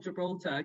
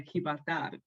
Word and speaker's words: Gibraltar: Like soy trabajar en Gibraltar, because I have to say like not Gibraltar because they don't say it like that. They say Gibraltar.